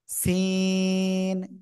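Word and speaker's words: س: অক্ষরটা হয় আর অক্ষরের নাম কি সিন চার এলিফ টান সিন শব্দের শুরুতে যদি সিন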